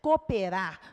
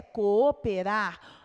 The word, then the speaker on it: cooperar: em sílabas separadas coperar nós temos às vezes uma certa preguiça de pronunciarmos sairá dizemos cooperar mas na verdade a pronúncia é coperar aqui um encontro de